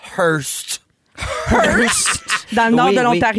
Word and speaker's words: Hearst: Ça se prononce Hearst.